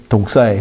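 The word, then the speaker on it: δόξα: 하고 이게 히브리 말로는 헬라 말로는 독사라고 하는데 이게 뱀 독사가 아니고 이 히브리 말 발음이 독사예요.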